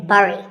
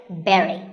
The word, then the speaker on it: bury: I used to say bury. I mean, it looks like that, right? But this word sounds just like the berry in strawberry. So once again, bury.